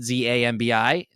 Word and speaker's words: zambi: the Haitian word zombie like spelled n z-a-m-b-i which I think would still be pronounced zambi or a zombie and then there's another word